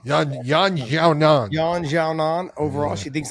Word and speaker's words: Yan Xiaonan: Yan Xiaonan. Yan Xiaonan.